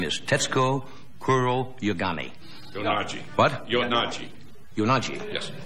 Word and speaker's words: Kuroyanagi: She is with us tonight, and I hope I pronounce her name right. Her name is Tetsuko Kuroyanagi. Yonagi. What? Yonagi. Yonagi. Yes. Yonagi. Kuro Yonagi.